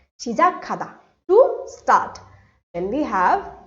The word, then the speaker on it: 시작하다: When these two consonants come together, I'll get a k sound. 시작하다 to start.